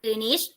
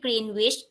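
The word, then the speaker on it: Greenwich: จะ ลาก ผ่าน เมือง กรี นิช ประเทศ อังกฤษ นะ คะ โดย เป็น เวลา ปาน กลาง ของ กรี นิด ที่ ทั่ว ประเทศ ยอม รับ อ่าน ว่า กรีนิช นะ ไม่ ใช่ Green Witch The Green Is Me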